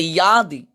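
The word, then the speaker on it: यदि: যদি, সংস্কৃতে অন্তস্থজর উচ্চারণ ওয়াই এবং অন্তস্থার মাঝামাঝি, এটা সংস্কৃতে ইয়াদি।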